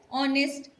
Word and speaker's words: honest: noticed that words our honest air begin with the vowel sound as the initial consonant it is not pronounced where h is not pronounced i just told you explained you're right honest our air and so